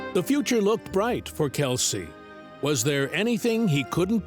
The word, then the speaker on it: Kelce: Although the extended side of his father's family pronounces their surname as Kells, he opted for his father's pronunciation, Kelce.